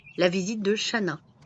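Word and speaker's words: Chanaz: Après la page de Ex Lébain et du brunch, je suis passée à la visite de Shana. Alors, il y a un Z qui apparemment ne se prononce pas.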